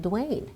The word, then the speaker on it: Duanne: The grammatical rule of a double consonant after a vowel and an E at the end, it should make the vowel sound short.